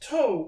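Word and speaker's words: ×: But the Gonzo anime about Romeo and Juliet has the X, but it's pronounced toe, which is and, so it's Romeo and Juliet, but they spell it with the cross, which is silent.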